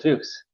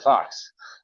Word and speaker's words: Fuchs: Oh, actually, my name is Mr. Fox. So, oh, I'm so sorry. It's an understandable mistake. Fuchs, Fox, kind of sounds the same, especially if you're pronouncing an Israeli accent, I imagine.